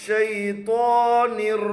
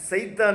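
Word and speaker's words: شيطان: அஊது பில்லாஹி பில்லாஹி மினஷ் ஷைத்தானிர் ரஜீம். மினஷ் ஷைத்தான். சில பேர் சைத்தான்பாங்க, சைத்தான் இல்லை, ஷை ஷை ஷீன்.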